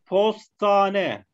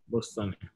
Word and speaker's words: postane: Postane. Postane.